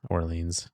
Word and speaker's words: Orleans: It's just Orleans.